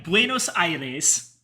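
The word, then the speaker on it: Buenos Aires: Is that how it's pronounced? Yeah. Buenosires.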